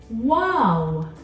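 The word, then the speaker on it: و: the next letter is wow wow you're gonna draw a line come back up and bring it back down wow wow that makes a sound what and this is your W sound in English wow and this brings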